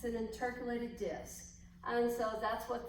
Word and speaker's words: intercalated: these blended cell membrane areas they are called intercalated that's how you pronounce it intercalated disc it's an intercalated disc and so that's what this is an